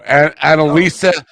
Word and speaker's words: Analisa: you guys know what Analisa is not an not not anal e no Analisa a n a l i let me let me spell it for you a n a l i s a like Analisa uh Anala I don't